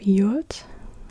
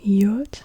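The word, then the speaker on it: יוד: Yod is like a Y. What do they write? Y as in yes, y, y. At the beginning, or at the beginning of a syllable, it's like an E, like the E in meat, meat. Yeah, yeah, like an E, Y, sound.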